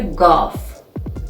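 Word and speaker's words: گ: And the 26th letter is a letter gaf. Gaf is pronounced like g. For example, go in English.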